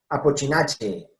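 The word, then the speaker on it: Apocynaceae: Apochinache, araliache, viñoniache, etcétera, etcétera, etcétera. ¿Bien? Miren, todo esto es che.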